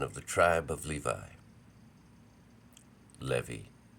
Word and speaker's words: Levi: Levi is actually how it would be pronounced, especially in the Greek, Levi, who took as a wife one of the daughters of Levi.